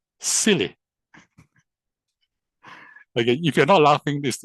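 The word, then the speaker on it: SYLI: inside yourself leadership institute s y l i pronounced as silly.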